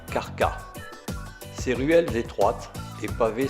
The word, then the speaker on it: Krka: Arrivés à Krka, prononcé Karka.